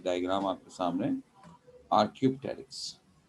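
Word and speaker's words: Archaeopteryx: य डायग्राम आपके सामने आर Q takes are Q means होता पुराना टेरेक्स प साइलेंट इसमें टेरेक्स पते इस टेरेक्स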